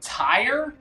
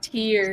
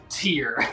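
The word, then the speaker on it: tier: here i go okay sure are you saying tire t what tear here here here that's what i'm trying to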